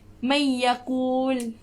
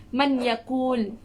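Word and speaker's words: من يقول: Okay, contohnya seperti may yakul. May yakul. Ni nun mati bertemu dengan ya. May yakul. Jadi bacanya kena dengung. May yakul. Huruf nun tu kita tak bunyikan sangat. Kita tak sebut man yakul.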